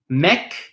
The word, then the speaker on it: mec: word a lot sorry if the final letter of a word is a C are F or L you are going to pronounce it okay you will pronounce that you will pronounce that lock that letter for example and if we look at a word like Meck Meck is like a guy in french guy Mik we pronounce the C or for example the